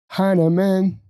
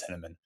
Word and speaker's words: Hinaman: 99%, unless they have a German background or some other reason to assume that it might be pronounced Heineman. But yeah, most people see it as Heineman.